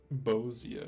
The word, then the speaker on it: Bosnia: Bosnia is how you say it. Not Bosia.